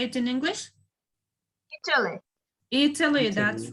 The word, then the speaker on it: Italy: Italy. Italy, that's right. Italy. Italia, it means in Russia or maybe in another language. But in English, we say Italy.